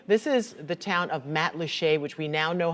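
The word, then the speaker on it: Matlacha: live pictures now this is the town of Matt Lee which we now know how to pronounce thanks to a friend from Lisa's Facebook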